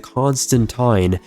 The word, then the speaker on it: Constantine: The Constantine actually, that's how you pronounce it. Constantine.